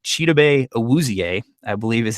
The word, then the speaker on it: Chidobe Awuzie: Chidobe Awuzie, I believe is how you pronounce his name.